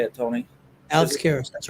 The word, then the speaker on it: Karras: Alex Karras, that's right.